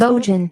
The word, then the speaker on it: Bojan: We used to say Bojan Bogdanovich's name wrong just to piss people off. Because it's Bojan.